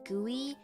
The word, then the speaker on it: GUI: As someone that has made GUIs, it's most it's definitely gooey.